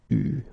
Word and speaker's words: eu: Il a eu, okay, you write it like that, but you pronounce it eu, okay.